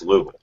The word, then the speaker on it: Louisville: there he always told me no no it's Louisville it's Louisville I'm like okay whatever well I